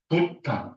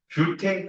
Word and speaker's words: 뷰테인: 그 옛날에는 부탄, 메탄, 에탄, 프로판, 부탄 그러다 보니까 부탄 가스 이렇게 돼 있는데 명령이 이제 바뀌었기 때문에 명령이 바뀌었기 때문에 부탄가스가 아니라 이제 뷰텐 가스라고 발음이 맞는 거죠.